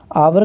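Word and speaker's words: hour: आवर का pronounce करेंगे तो ये वॉवेल साउंड देगा, इसीलिए यहाँ पे एन आर्टिकल का प्रयोग होगा।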